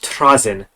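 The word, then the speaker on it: Trazyn: boy uh the audio book taught me to pronounce it Trin the infinite he slightly roll the r and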